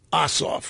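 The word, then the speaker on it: Ossoff: is rallying support for John oof rhymes with who is the leading Democrat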